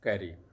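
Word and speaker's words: Carew: इसके अथर् हैं Thomas कैरियर जैसा कि आप देख पा रहे होंगे सी ए आर डब्ल्यू कैरी पढ़ा जाएगा डब्लू साइलेंट है तो यह लेकिन आज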